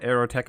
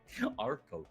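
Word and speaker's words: Archotech: Is there ship combat that people are actually going to be able to beat aerotech without aerotech equipment?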